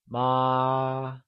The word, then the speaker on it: mā: The correct answer is ma. Did you get that right? Ma. Great! So remember, mother, which translates to ma, is said with a constant high-level tone, also known as the first tone.